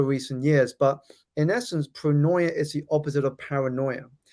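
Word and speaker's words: pronoia: This is the process of of tapping into a concept that I that I call pronoya. And it's a term that has been how do you spell that?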